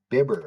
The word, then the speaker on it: Bibber: It is Drew Bibber, officially. I heard it from the man himself.